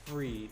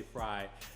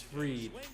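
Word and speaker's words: Fried: third we have max free i believe that's how you pronounce his last name i don't want to say fry but i think it's free and so he kind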